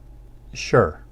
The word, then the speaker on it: 是: the power verb sure sure it has that falling tone now this verb translates